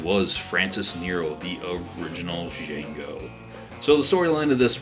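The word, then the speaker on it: Django: and deliberately and says the D is silent and the old man goes yes I know that old man was Francis Nero the original jeno so the storyline of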